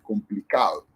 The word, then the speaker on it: complicado: El acento, la fuerza va en esta sílaba, que es la penúltima. Complicado.